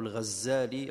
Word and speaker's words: al-Ghazali: Alors il y a une divergence entre les savants concernant la prononciation de son nom. Est-ce qu'on l'appelle Ghazali ou bien Al-Ghazali? Mais beaucoup vont dans le sens de Al-Ghazali, puisque ça fait référence au métier de son père qui tissait la laine.